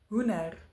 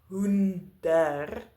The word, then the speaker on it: hoender: I can say hoender. But this is not how most Africans people speak. In words where there is a D that follows an N, we usually drop the D in our pronunciation.